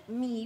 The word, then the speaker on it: 芈: 是《芈月传》，芈，对，芈，是芈的，对不对？